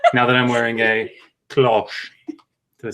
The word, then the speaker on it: cloche: Let's see if we get a few more subscribers now that I'm wearing a cloche.